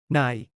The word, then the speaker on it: นาย: คุณ คุณ คุณ นาย Like the English word nai. This is a very formal Mr. or Master and might be used by staff addressing male clients or bosses. นาย นาย นาย นาง Rhymes with sung.